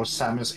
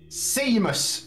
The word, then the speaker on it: Samus: i've many times actually said samus instead of samus at least it's better